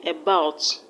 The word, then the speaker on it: about: The first syllable is which is a schwa sound, and a schwa sound can never be stressed. So the stress is on the second syllable, about.